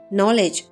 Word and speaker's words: knowledge: Knowledge the K and D are silent.